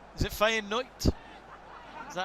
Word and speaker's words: Feyenoord: got that quite good you can just change the d ending to a t and you can pass for a dutch commentator feyenote is it fighting knight is that how you